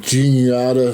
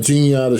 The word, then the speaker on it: Juniata: So, he was uh at the uh well, you guys taught me how to say the correct name correctly now, Juniata shops. So, it's going to take me a bit to remember that. Uh Juniata shops. Um and uh somewhere out